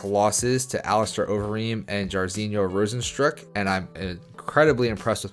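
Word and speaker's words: Jairzinho Rozenstruik: coming off back-to-back losses to aleister overeem and jarzino rosenstrok and i'm incredibly impressed with myself for pronouncing that right i think the fight is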